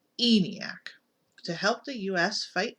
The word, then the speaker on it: ENIAC: Army built a computer called E and IAC pronounced eeny AK to help the u.s.